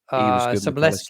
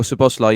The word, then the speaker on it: Szoboszlai: It was Gravenberch, McAllister, and Soboleski, is it? I can't pronounce his name. Oh, Szoboszlai.